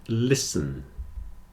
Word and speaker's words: listen: Castle sound whistle and listen you hear that in all of these the t is not pronounced especially in Words with